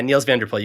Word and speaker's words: Niels van der Poel: Yeah, Niels van der Poel, you got that right.